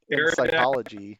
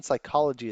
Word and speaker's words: psychology: think you're a fool because the p in psychology is silent just like in swimming pool whoa whoa my mind